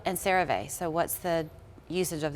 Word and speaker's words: CeraVe: It's not CeraVe, it's CeraVe. Oh, CeraVe. You said it correctly, I think. But they're often mispronounced, they're often compared to each other.